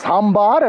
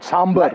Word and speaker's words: sambar: choka not lit choka just as I keep correcting people it's sambar and not sambar like a good